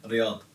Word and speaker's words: Riyadh: Yeah, Riyadh.